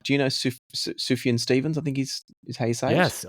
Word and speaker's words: Sufjan: He's kind of like Do you know Suf- Sufjan Stevens?